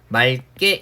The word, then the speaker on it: 맑게: 기억 앞에 왔을 때는 이 어감 부분의 받침을 어떻게 리을로 발음해서 맑게 이렇게 발음하게 되는 겁니다.